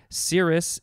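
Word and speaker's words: serous: normal i don't know cirrus is s-e-r-o-u-s it's like sirius without the eye and then we have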